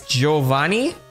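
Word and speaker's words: Giovanni: You don't say the I. It's just there to change the sound of the G. It's Giovani.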